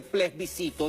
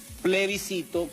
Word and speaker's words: plebiscito: de El ples bisito que no se dice ples bisito sino que se dice plebiscito que no está contemplado